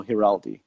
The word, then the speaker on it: Giraldi: you on social media at heraldi right correct yeah i think i think you're the first english speaker person who pronounces my last name correctly well i have a